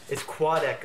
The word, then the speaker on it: Quadeca: It's Quadeca. Quad. You know the word quad? Quad? Think of a quad.